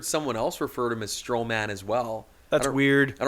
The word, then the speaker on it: Strowman: it's I'm sure it's strowman wherever it's kind of like where you put the accent on the word like you kind of like accentuate the the syllable like it's strowman strowman not strowman strowman exactly or um